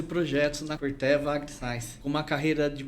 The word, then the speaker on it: Corteva: Pode falar Corteva, muita gente acha que é Corteva, mas pode falar Corteva, que é o nome correto de se pronunciar, da Corteva AgriScience.